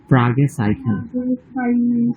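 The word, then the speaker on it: Fragezeichen: সিএস থেকে ওটা আমরা খ উচ্চারণ করবো, ইখের মতো, সাইকেন, ফ্রাগে সাইকেন।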